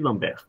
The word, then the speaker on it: Lambert: Mas olha só, eh, Lambert, Lambert, né? não se pronunciar, mas é francês Lomber.